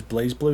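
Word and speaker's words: BlazBlue: Oh, because because he's not pronouncing it as Blaze Blue. Is that the problem? Well, it's called Blas Blue, I thought. That's what it's spelled, but it's meant to be pronounced Blaze cuz Japan.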